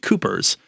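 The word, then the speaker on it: Cuijpers: found said that the author's name would be pronounced Coopers so just there's a J in the middle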